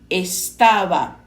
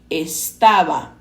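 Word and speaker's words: estaba: em português no espanhol a letra B geralmente é pronunciada com menor pressão labial parecendo intermediário entre o v e o b Mas cada país tem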